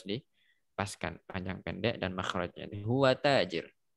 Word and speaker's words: هو تاجر: seharusnya tidak dipanjangkan malah dipanjangkan sehingga sebagian orang bacanya huwa tajir yang seperti itu tidak benar ya kurang pas yang seperti itu harus dipaskan panjang pendek dan makhrajnya huwa tajir huwa tajir ya kata seperti itu.